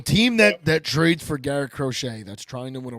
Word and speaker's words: Crochet: Garrett Crochet. Crochet, I think. Crochet. That would be the French way of saying his name.